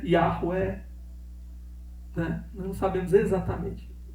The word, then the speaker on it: Yahweh: tem um nome que eu sei que não é Jeová. Por quê? Porque em hebraico não tem J. Então começa por aí, né? A primeira letra do nome de Deus lá é um I. Pronuncia um I. É I alguma coisa.